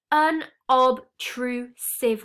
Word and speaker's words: unobtrusive: final vocabulary word today unobtrusive so this an ob true civ word has four syllables now in the book